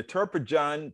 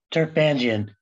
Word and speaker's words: Turpanjian: Amherst and is the inaugural holder of the Turpajan Chair in Civil Society and Social Change at USC. And I meant Turpan. How do you say that, Doctor? Turpanjian.